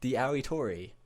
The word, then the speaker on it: TheAoitori: It's at the Aoitori after the spell it.